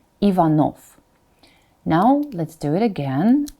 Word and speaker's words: Ivanov: Latin or English spelling that is because the final is pronounced as Pho all the time Ivanov now let's do it